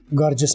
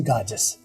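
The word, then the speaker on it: gorgeous: गाजस, René गाजस, गॉर्जस नहीं गाजस, ठीक है।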